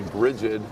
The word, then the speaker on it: Brigid: Could be Brigid. Soft G.